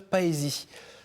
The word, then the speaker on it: Paësie: Aujourd'hui, nous avons le plaisir de recevoir Sœur Paesi. Bonjour ma sœur, j'ai bien prononcé ?